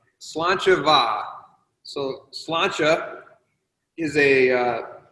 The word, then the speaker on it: Sláinte: about this, and how the hell do you pronounce the name? Yeah, so I guess let's conquer the name first. So it's Sláinte Va.